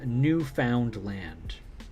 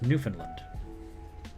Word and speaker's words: Newfoundland: finland but it's a new found land but it's pronounced newfoundland which wow that does sound like finland never realized that yeah